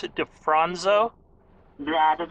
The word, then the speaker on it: DeFronzo: talking to miriam defronzo is that how you pronounce it defronso yeah that's how you pronounce it correctly and